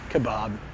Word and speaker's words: kebab: Kebab. Like Bob, like you got a friend named Bob. Kebab.